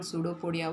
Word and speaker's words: pseudopodia: So amoeba takes food using temporary finger-like extensions called pseudopodia. What are the finger-like extensions of the body of amoeba required for food intake, children? It is pseudopodia. Pseudopodia. Pseudo. P is silent.